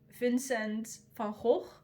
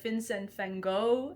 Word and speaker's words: Vincent van Gogh: in your own style, just like Vincent van Gogh is how you say it in Dutch, but Vincent van Gogh is probably the name that you are more familiar with.